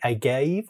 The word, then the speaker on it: agave: but also included a a gave or agave depending on how you say it and a hemp paper